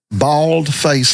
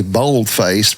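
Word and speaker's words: bald-faced: Baldfaced liar. You heard that term? Uhhuh. Okay. A lot of people say boldfaced because they're so used to seeing typing on a word processor and making something bold, right?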